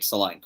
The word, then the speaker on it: Solanke: DCL, or Dominic Solanke. One of those three. Solanke rhymes with. Yeah, I mean. Rhymes with Jack's a crank. Rhymes with low rank.